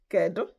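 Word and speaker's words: Kedu: Ko. Try to say it. Ko. I will spell it, but I'll spell it in English.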